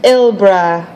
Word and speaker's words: Elbrida: Elbrida, pronounced Ilbra, Morad.